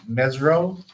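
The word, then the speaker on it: Mesirow: The group that bought it is called, I think it's pronounced Mesro Financial, MESIRO.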